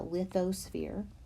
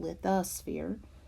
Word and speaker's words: lithosphere: And again, some people pronounce that lithosphere, but I was taught lithosphere. So I'm using the schwa sound in there to make that sound.